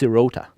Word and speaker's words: Sirota: Like, they like to stress the second syllable in the word.